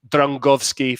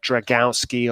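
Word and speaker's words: Drągowski: tricky so i think even technically it's drangovsky for instance um rather than dragowski or dragovsky um we had that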